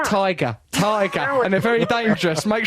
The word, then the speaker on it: Tigra: It's Yeah, pronounced tiger.